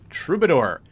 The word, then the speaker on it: troubadour: And I had to look that up and make sure I'm pronouncing it correctly. Troubadour.